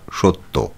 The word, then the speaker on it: সত্য: হবে দন্তস ত ফলা সত্য শব্দের সঠিক উচ্চারণের রূপটি হল তালবসয় ওকার তয় হসন্ত তয় ওকার সত্য 45 নম্বর প্রশ্ন বিক্রম